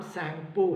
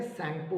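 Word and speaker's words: Tsangpo: When it flows through the Himalayas, जब ये हिमालय में फ्लो कर रही होती है तो इसका वहाँ नाम सैंगपो है, टी साइलेंट है, सैंगपो बोलेंगे।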